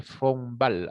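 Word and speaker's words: von Wahl: signo de bonewald bueno se escribe bone como ustedes están Viendo acá pero se denomina signo de fombal bueno así se lee no vamos a poner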